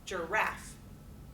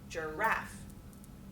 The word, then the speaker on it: giraffe: Iams, in contrast, are words that are having the weak then strong syllable structure. So what are some examples of weak, strong words that are two syllables? Giraffe, giraffe. Okay, you do that with me. Giraffe. Do you hear how that's different?